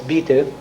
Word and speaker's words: Anbaugebiete: I don't know how many of you can pronounce bestimmter Anbaugebiete without stumbling. And it's not Beite, it's Biete.